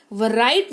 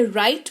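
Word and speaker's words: write: वर राइट नहीं राइट पढ़ते हैं यानी कि लिखना।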